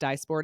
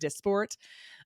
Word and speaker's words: Dysport: I thought it was pronounced dysport. It's pronounced it's pronounced dysport.